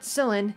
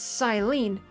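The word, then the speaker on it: Cyllene: So I've been mispronouncing the captain's name wrong all along. It's not Silene, it's Silene. Captain Silene!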